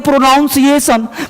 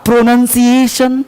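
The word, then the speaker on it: pronunciation: क्या हो रहा है लोग बोलते हैं प्रोनाउंस एशन प्रोनाउंस एशन नहीं होता प्रोनंसिएशन प्रोन प्रशन तो आपका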